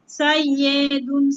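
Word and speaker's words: سَيِّدٌ: Scene ইয়া জবর সাই, ইয়াজের ই, সাইয়ে, দাল দুই পেশ দুন, সাইয়্যিদুন সাইয়্যিদুন।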